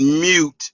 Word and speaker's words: mute: But he need he needs to learn how to say the word mute and not me. It's not like a cow. He's not mooing.